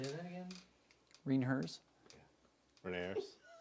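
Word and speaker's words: René Herse: So I did the Reinhers SKF bottom bracket with White Industries cranks. Say that again? Reinhers. Renaers? Reinhers. I like it. Are you doing the bicycle pubes? Yeah. Pronunciation? Mean hearse. Reinhers.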